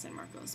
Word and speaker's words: San Marcos: People say Marcus, but I've always heard it be pronounced San Marcos.